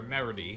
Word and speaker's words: Meredy: Juvia faces off with Ultir's in a way adoptive daughter, Meredy. And no, I did not mispronounce that name. It is spelled Meredy.